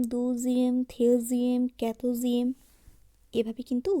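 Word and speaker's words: douzième: একাদশ উচ্চারণ হবে অজিয়েম, দ্বাদশ দুজিয়েম, ত্রয়োদশ থ্রেজিয়েম, চতুর্দশ ক্যাতোজিয়েম, পঞ্চদশ কেজিয়েম, ষোড়শ সেজিয়েম, সপ্তদশ ডিসেটিয়েম, অষ্টদশ ডিজুয়েটিয়েম, ঊনবিংশ ডিসনোভিয়েম, বিংশ ভন্টিয়েম একবিংশ ভন্তে ইউনিয়ম।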